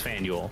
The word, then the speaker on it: Faneuil: It's not like Boston, where, and I'm gonna say it correctly this time, Jiggy, because you taught me how. Faneuil Hall. Yes. No, it's Faneuil, right? It's Faneuil. I said it the wrong way the first time.